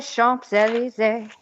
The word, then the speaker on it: Champs-Élysées: It does stand at the end of the impossible for me to pronounce Champs-Élysées. I don't know how to say that. Oh, Champs-Élysées.